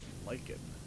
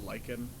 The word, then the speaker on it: lichen: proven correct oh that's lichen what is that orange stuff mold fungus fungus bothers me when people don't pronounce things correct talking about lycan like i understand you